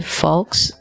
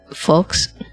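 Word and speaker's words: Fawkes: Uh when you're near the ending, uh if you're with your companion, especially Fox, Folks, uh I believe is how it's pronounced.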